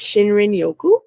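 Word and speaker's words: shinrin-yoku: it so that I don't mess up the pronunciation but it's shinrin Yoku or otherwise known as Forest bathing which encapsulates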